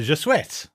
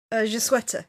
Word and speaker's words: Je Souhaite: We'll come back to how the wishes seem to work, but as we get into Je Souhaite, which I think I pronounced incorrectly this time. Je Souhaite, yeah.